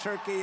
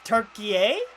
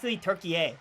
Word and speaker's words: Türkiye: their match tomorrow against Turkey in Los Angeles. Actually, Trump, it's Türkiye. They're doing great. Türkiye. You pronounce it that way.